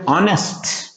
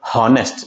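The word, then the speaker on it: honest: Okay, so here ಆನೆಸ್ಟ್, Jagadish is ಎ ಆನೆಸ್ಟ್ ಮ್ಯಾನ್. ಆನೆಸ್ಟ್, ನಾಟ್ ಹಾನೆಸ್ಟ್. The pronunciation is ಹಾನೆಸ್ಟ್ ಅಲ್ಲ, ಏನ್ ಬರುತ್ತೆ ಹಾನೆಸ್ಟ್.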